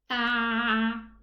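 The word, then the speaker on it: ع: So I need to pronounce it from a little bit deeper within the middle part of the throat. And let's pronounce it again. Ah. Ah. Again. Ah. This is, inshallah, the correct pronunciation of the letter Ain.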